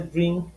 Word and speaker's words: drink: Recuérdate que al final de drink, en la pronunciación más gringa es drink. Drink, como si fuera con E. Y se le colocó una explosión al final, ¿ok?